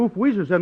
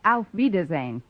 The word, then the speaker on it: Auf Wiedersehen: Gosh, if oof Weezer's end doesn't mean goodbye, then my coming over to wish you oof Weezer's end must make me out to be some kind of a dummy.